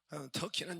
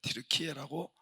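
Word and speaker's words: Türkiye: 목요일까지 터키 지금은 트리케에 터키는 영어 발음이라고 하더라고요 영어 발음 자기들을 원래는 드루키에라고 불렀대요 그래서 외국에서 자꾸 터키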